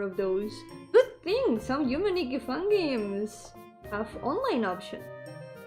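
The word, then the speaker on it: Yume 2kki: Yumetuki. Which should also be pronounced Yumeniki, but for the sake of differentiating them.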